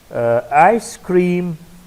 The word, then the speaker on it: ice cream: Ice cream, ice is stressed.